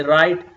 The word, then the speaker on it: write: god gasps gano and when w and are come together keep in your mind you're not going to pronounce w we say write rest wrong rec rec et Cie hope